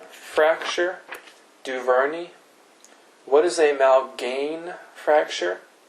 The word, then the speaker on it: Malgaigne: What is a Malgaigne fracture? Spelled with a G.